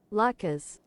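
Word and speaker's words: latkes: Uh basically they're shredded potatoes and how do I pronounce this? Lkas. Lattkas.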